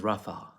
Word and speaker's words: Rafah: that s a Javid how do you pronounce Raa in Arabic it's with the basic which is difficult for any English speaking or non-arabic person to um pronounce like or but it's um it's pronounced you'll mostly hear it as Rafa right the happy pretty